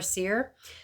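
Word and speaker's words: seiðr: So I'm pretty sure that Ser, S-E-I, that D thing and R, I'm pretty sure it's pronounced Ser or Seer.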